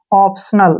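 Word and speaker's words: optional: हैं ठीक है ना और टी आई ओ को हम यहां पे श करेंगे जब भी टी आई ओ आता है तो उसको श पढ़ते हैं ऐसे स एन का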